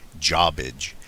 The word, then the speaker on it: Jarbidge: Our roommate was a geologist, and he wanted to go check out an old abandoned mine up in the Jarbidge. We always pronounced it Jawbidge.